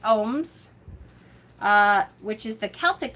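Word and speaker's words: ogham: is for um ohms the agams which is pronounced ohms uh which is the celtic form of divination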